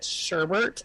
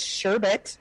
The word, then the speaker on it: sherbet: on the planet is when they call it sherbert and like it's sherbet where's the second r yep it's that unnecessary